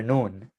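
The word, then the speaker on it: نون: there okay right here we have the letter noon the letter noon which is also another exception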